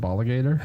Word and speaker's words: Bala Gator: Some people that messaged me, they're like, "Do you pronounce it Bala Gator?" I was like, "No, you still keep the enunciation of alligator. Just had to be."